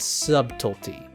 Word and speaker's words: subtlety: Kojima sees that silent B and says, "Why are we ignoring this? This needs exhibition and explanation." He approaches people and says, "Hey, did you know there's a B in subtlety?